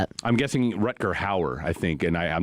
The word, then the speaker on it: Hauer: I'm guessing Rutger Hauer, I think, and I I'm not looking at it, but I'm guessing that's the name. Hauer, okay. That's how you pronounce it.